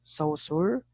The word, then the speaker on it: Saussure: So Saussure. That is a French surname, I think.